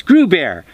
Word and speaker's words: Gruber: Because it's Gruber, rhymes with Pooh Bear.